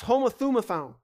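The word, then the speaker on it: homothumadon: for one another foreign there's a Greek word this this Unity is pronounced homothumophone that's how you pronounce in the Greek I'm not going to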